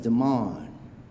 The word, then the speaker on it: Demond: And when I introduced myself to him, he said, "My name is Demond. Spelled like demon, sounds like almond."